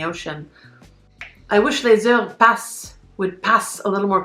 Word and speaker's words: Passent: I previously mispronounced that. It's not Passent, it's Passent.